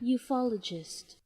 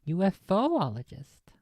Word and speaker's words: ufologist: it I noted it ufologist ufologist well it just repeats okay ufologist and he said UFO ologist this is from an